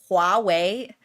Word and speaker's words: Huawei: You know, when people are like pronouncing Huawei or something like that, it's pronounced Huawei.